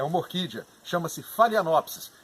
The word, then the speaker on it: Phalaenopsis: mundo inteiro não desconfio é uma orquídea chama-se falha lops e é sobre ela que nós vamos falar